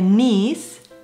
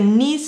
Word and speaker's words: niece: Pues sobrina y nieta es algo que muchos confunden porque sobrina se dice niece y nieta, pero es que niece suena como nieta.